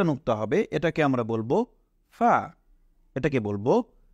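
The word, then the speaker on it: ف: হবে এটাকে আমরা বলব ফা এটাকে বলবো ফা ফা এর উচ্চারণ হবে আমরা যদি দাঁতের আমাদের আগার সাথে নিচের ঠোঁটের আগা মিলাই তাহলে এভাবে উচ্চারণ হবে ফা আমরা আবারো বলবো ফা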